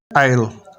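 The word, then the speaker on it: aisle: अंधेरा डर्कन अंधेरा करना आइल जजीरा इसमें एस साइलेंट है या खामोश या साकिन डिबी कोड़ा आयल रास्ता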